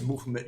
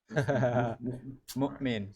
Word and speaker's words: mu'min: They're saying it's movement. You're pronouncing it wrong. What? Mu'min. How do you say it? Not say movement.